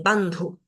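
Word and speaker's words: bandhu: la pronunciación bandu bandu acá en esta palabra tenemos una característica especial en esta d que es una d para nosotros fácil de pronunciar pero tiene una H después Este sonido aspirado entonces tengo que decir bandu bhu acá entre paréntesis tengo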